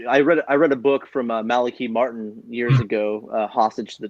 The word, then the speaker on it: Malachi Martin: Yes, you properly pronounced his name too, Malachi Martin. Mm-hmm. Malachi Martin, that's right.